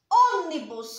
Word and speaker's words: ônibus: Porque está na antepenúltima sílaba.